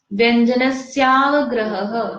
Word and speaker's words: व्यंजनस्यावग्रहः: व्यंजनस्यावग्रहः, व्यंजनस्यावग्रहः, ग्रह, 2 बार ह होता है ना, ह के बाद में विसर्ग है, ग्रह, इस तरह से उसका प्रोनाउंसिएशन होगा। ठीक है, फिर से बोलेंगे, व्यंजनस्यावग्रहः।